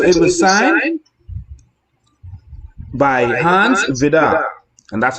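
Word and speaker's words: Vide: And so it was signed by Hans Vidar, and that's how you pronounce it. It's spelled V-I-D-E, but it's Hans Vidar.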